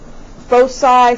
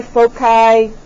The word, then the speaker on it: foci: So the plural of focus, and I have heard it pronounced both foci, foci, hard or soft C.